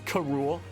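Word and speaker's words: K. Rool: sometimes for some reason in the show they always pronounced K rool as KO rule King Niko rule that's why you pronounce it like that Oh wacky King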